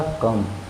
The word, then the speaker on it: come: जैसे देखिए ध्यान से, COME है, उच्चारण होगा कम। कम मतलब आना।